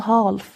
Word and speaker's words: half: نص يعني half، والال silent مش بنقول half. ال هنا silent مش بننطقها، فبنقول it's 5:30.